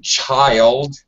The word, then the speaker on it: child: just a little bit one child it's a long I chai chai child when you're a child